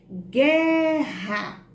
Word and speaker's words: Guerra: A mesma coisa vai acontecer com GU. Guerra. Apareceu o som da letra U? Guerra. Não apareceu. Então, GU é um dígrafo.